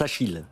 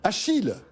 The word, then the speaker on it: Acheel: ça bon soir françois ça se prononce achille achille comme le prêt normalement le prénom c'est